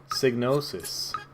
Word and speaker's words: Psygnosis: Psygnosis. The P is silent.